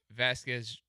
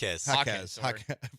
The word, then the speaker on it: Jaquez: And Jaime Vasquez. Is that how you say it? Jaquez. There's no V in there.